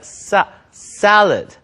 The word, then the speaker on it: salad: 자, 샐러드 발음이 세가 아니라 salad. 싸에 가깝죠.